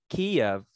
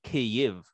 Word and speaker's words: Kyiv: Kiev is how you say Kiev in Russian. In Ukrainian, you would say Kyiv. So the proper spelling would be K-Y-I-V.